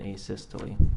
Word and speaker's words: asystole: and have you explained to the jury uh a systole i think is called um am i pronouncing that right by the way asystole yeah